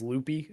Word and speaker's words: Lupe: Writ it's Lupe, so like Lupe is probably how I would assume it's Yeah. said, but I don't speak Spanish, so if we have any people who hable español, feel free to correct us. Lupe. Pronounced Lupe. Yeah, like Okay, maybe it's Lupe.